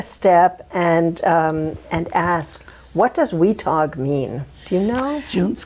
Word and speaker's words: Weatogue: And the English settlers pronounced it Weatogue as one word.